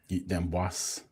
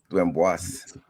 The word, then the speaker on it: Damois: with the great Ashley Damois. Am I pronouncing that correctly? Damos. Damos. Little little small s on the end of it.